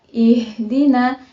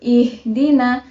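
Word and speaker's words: اهدنا: ayat keenam cara membaca ih Dina itu kita memakai hak yang ada di tenggorokan jadi cara membacanya yaitu ihdina Jangan dibaca ih Dina nah cara membacanya itu melalui dalam tenggorokan selanjutnya ayat ke-7 nah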